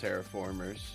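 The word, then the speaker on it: Terra Formars: I mean, it's spelt the way he said it, but it's pronounced terraformers.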